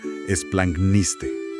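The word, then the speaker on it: ἐσπλαγχνίσθη: Para que la audiencia la pueda leer y pronunciar junto con nosotros, es algo así como esplangniste.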